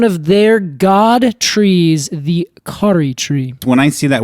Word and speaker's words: Kauri: Is that the Maori pronunciation? Yes, that is the Maori... yes, correct.